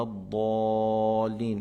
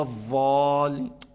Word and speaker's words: الضالين: Mais il faut bien prononcer tous les lettres de l'Fatiha, الضاد غير المغضوب عليهم ولا الضالين. Il ne faut pas dire غير المغضوب عليهم ولا الضالين. C'est le ضاد, c'est pas le ضا.